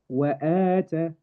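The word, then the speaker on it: وآتى: However, because over here the hamza is before it, we call it maddul badal, and the whole word will be pronounced wa'ata. Wa'ata.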